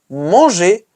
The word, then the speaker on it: mangé: And actually, fun fact, it has the same pronunciation as the infinitive.